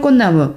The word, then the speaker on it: 꽃나무: 자 그런데 이제 문제가 뭐냐면 꽃이 꽃망을 꽃나무 이제 이건 어떻게 되죠? 발음이 실제 표기와 다르죠. 이건 꽃이가 되고 이거는 비음화까지 돼서 꽃망울이 되고 꽃나무는 니은 발음이 되죠.이 발음기를 표시하는 겁니다.